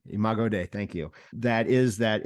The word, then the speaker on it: Imago Dei: And I think that, and I don't know if I'm pronouncing this correctly, I should know this, but it's the Imago Dei. Imago Dei. Imago Dei, thank you.